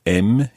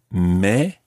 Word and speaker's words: mais: And this varies very slightly depending on which part of the French-speaking world you are, but you may hear a slight difference between mais, as in mes enfants, and mais, mais j'habite à Paris.